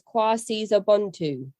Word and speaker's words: KwaSizabantu: So that pronunciation is KwaSizabantu.